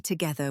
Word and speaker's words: together: I like to drink tea together with my sister when she visits. The stress is on the middle part of that word, together.